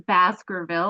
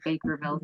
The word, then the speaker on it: Baskerville: thanks for sharing and I'm sorry for mispronouncing your last name everybody at the Baskerville I think I said Bakerville so I apologize that's